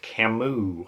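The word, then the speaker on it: Camus: Next is The First Man by Albert Camu, I think is the way to pronounce his name.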